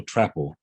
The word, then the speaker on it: Trapple: oh it's mental trapple trapper okay it was the truth it rhymes with apple okay that's how she